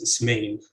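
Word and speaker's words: اسمين: So in 2, the words on the left are typically pronounced as ismain, ithnain, with stress on the second syllable.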